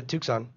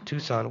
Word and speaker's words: Tucson: say it Tu Tucson Tucson Tucson why is there a c there man it's a silent c perfect it's a mystery Tucson so how many miles from Tanga a Tucson is it a 521